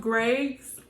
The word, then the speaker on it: Greig: it look it up it's pronounced grace is GRE IG look it up so